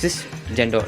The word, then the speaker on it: cisgender: who are not transgender cisgender which is pronounced this gender descript only as personal